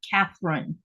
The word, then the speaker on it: Katherine: wrong um over here they don't have a th in their articulation of words so it's not Catherine but does that bother